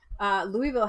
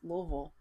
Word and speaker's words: Louisville: or anybody knew anything, Louisville had truckloads. You're not even saying it right now. It's Louisville. It's helpful to say Louisville so they know. It's the locals that say Louisville.